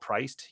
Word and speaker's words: PRYCD: Is it priced? Yeah, it's Priced. It's spelled PRYCD.